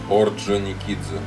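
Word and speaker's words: Орджоникидзе: Thùy không đang phát âm được. Ozonikizu.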